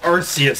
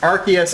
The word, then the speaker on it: Arceus: And it's Christmas, and go figure we pulled Arceus of all things. Arceus is English. Arceus is Japanese. Well, you know what? This is the one time that I agree with the Japanese pronunciation.